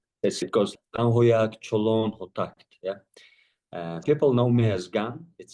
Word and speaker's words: Chuluun: My name as you correct correctly is not to be pronounced publicly very often. It's called it goes Cholon.